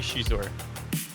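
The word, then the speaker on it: Xizor: Do you say Zizor? I think it's supposed to be Shizor. Shizor is how it is in the audiobook, so, you know.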